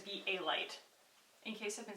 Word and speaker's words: Be A Light: I have no idea whether I've been saying be Val light or be a light the whole time when it is be a light in case I've been